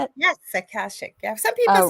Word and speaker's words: Akashic: Yes, Akashic.